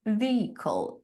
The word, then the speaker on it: vehicle: Um and then there is this tricky word vehicle. Vehicle. Vehicle. A lot of students struggle pronouncing it because we can see that the h letter is not pronounced vehicle.